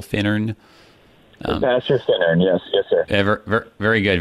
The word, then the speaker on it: Finnern: They're both stressed on the first syllable, Finnern.